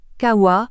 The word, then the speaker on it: kawa: le nom du corbeau Kawa prononcé avec un haut long et un à terminal plus long encore le mot Kawa croisse